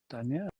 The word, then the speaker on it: Daniel: about our guest who's on tonight Danielle Danielle is the way it's pronounced apparently I asked him because I was